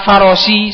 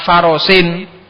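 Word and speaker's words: فرسٍ: Salah kalau sampean baca roqibtu ala farosi. Salah. Harus berani bilang roqibtu ala farosin.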